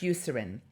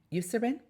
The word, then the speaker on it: Eucerin: product line is use I think it's pronounced Eucerin you serve in this is a huge